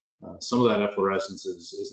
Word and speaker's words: efflorescence: and I get calls for these three stains effervescence evanescent sand effervescence amongst any other variety of the pronunciations that are wrong with the correct for a way to pronounce efflorescence as efflorescence so if you take nothing else away from